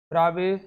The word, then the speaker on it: Bravais: ब्रावे lattice, French mathematician, जिनका जो नाम का प्रोनाउंसिएशन है इसलिए मैं थोड़ा डिफरेंट टाइप से कर रहा हूँ। ऑगस्ट वैसे स्पेलिंग है AUGUST, बट प्रोनाउंस करते हैं इनको ऑगस्ट, एंड BRAVAIS प्रोनाउंस करते हैं ब्रावे।